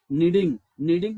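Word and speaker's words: kneading: नीडिंग में ये जो के वर्ड है इसको साइलेंट रखते हैं, ठीक है।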